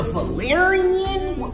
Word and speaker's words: Valerian: choosing these Valerie joints the Valerian rhymes with Aquarian DeLorean valorian is that Village